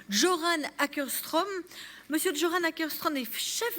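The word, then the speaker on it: Göran Åkerström: Je vais maintenant laisser la parole à Monsieur Joran, il m'a dit il m'a donné la prononciation en suédois, Joran Ackerström.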